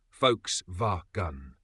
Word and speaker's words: Volkswagen: w a g n but here's how you actually say it folks V gun let's break it down